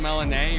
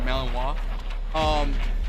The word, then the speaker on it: Malinois: I always mispronounce it. The Belgian Malinois or Malinois.